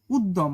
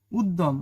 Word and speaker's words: উদ্যম: যেমন উদ্যম মনে হবে যেন দয় দ দুইটা দ লিখছে তাই না? উদ্যম গদ্য কিন্তু শব্দের মধ্যে বা শেষে যুক্ত ব্যঞ্জনের সাথে জফালা এর কোন উচ্চারণ হয় না।